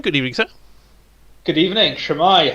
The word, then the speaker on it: shwmae: No, he started with Shemai, which sounds very much like some kind of 70s disco group.